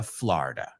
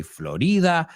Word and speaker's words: Florida: So today we are going down to Florida. You say Florida, we say Florida.